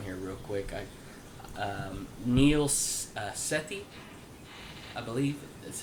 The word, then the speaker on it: Neil Sethi: Neil Sethi, I believe is how it's pronounced.